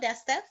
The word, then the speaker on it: Desta: from guests dusty green welcome to the show desta thank you and for such a pleasure absolutely ask you am i pronouncing your name right yes ma'am okay if